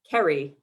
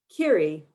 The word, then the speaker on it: Kerry: sort yourself that fast kiri americans sound my name with hard r's a long y and the stress on the second syllable kerry kerry a clunky mechanical shift in gear but here and now kiri in a soft and lilting song a cardinals clear double stressed twitter kiri kiri i travel light i